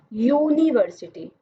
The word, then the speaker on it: यूनिवर्सिटी: क्योंकि इसकी जो प्रोनाउंसिएशन है वो कॉन्सोनेंट है, यानी कि यूनिवर्सिटी, यू य आ रहा है ना, तो यह तो व्यंजन वर्ण में आता है, इसलिए इसके साथ हमने ए का इस्तेमाल किया है।